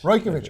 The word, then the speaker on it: Rajkovic: Rajkovic. I've been pronouncing it wrong for 5 years, and that's kind of sad to admit, but he never ever told me.